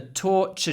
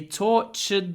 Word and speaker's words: torture: basically the same so remember that t is pronounced CH torture that's it that's